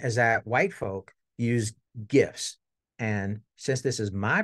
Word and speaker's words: GIF: that white folk use GIFs and since this is my presentation it is always hard G GIF we don't hear that soft G stuff here right that white